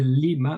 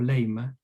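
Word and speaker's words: limma: This is the lima or lema. Okay. Depends how you pronounce the ancient Greek.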